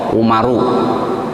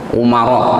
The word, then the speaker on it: Umar: Kalau sahabat Umar itu nggak ada wawunya, tulisannya ain mim ro, Umaru. Ya. Umaro, ya.